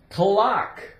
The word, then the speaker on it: clock: cl cl CLA OC K is a a clock clock the C is silent you have the o a k c